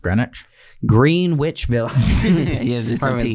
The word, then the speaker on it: Greenwich: wheelchair-bound photographer spies on his neighbor from his green witch village greenwich green greenwich that's pronounced greenwich green witchville yeah this is greenwich village courtyard